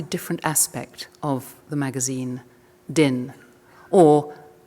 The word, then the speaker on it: Dyn: aspect of the magazine, Din, or Dine. That is our first controversy, actually, is how you pronounce it. And I'm afraid I'm saying Din, though I think everybody else here says Dine.